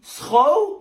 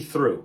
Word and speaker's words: through: So then this must be throw? No, come on, that's obviously through.